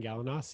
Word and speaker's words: Galanos: great connecting with you yeah my name's gallanos you nailed nailed the pronunciation i'm a love coach and i'm the